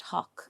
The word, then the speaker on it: Haugh: So, I think we pronounce our name wrong. I think it should be pronounced Hawk.